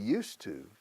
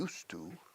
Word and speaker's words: used to: Entonces, used to, fíjate en la pronunciación, igual que el monasterio de used to, used to, como pasado, lo único válido es que ya no es así.